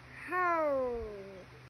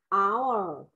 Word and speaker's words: hour: How. Không phải là how. Hour. Hour. Không có âm hờ mà con.